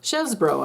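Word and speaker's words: Chesebro: think Kevin Kevin chesbro actually she chesbro I'm sure is how you really pronounce his name because it's French but anyway this Michael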